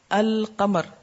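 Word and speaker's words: القمر: में अल किताब अच्छा इसी तरह कमर अल कमर लाम प्रोनाउंस हुआ ना अल कमर लाम की आवाज आ रही है शम्स श म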